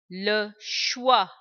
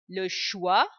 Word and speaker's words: choix: Le choix. The last letter is silent. The sound of ch, sh, we have seen before. Le choix, le roi, roi, le roi.